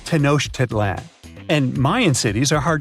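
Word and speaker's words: Tenochtitlan: It's Tosh Titlan. And Mayan cities are hard to pronounce too.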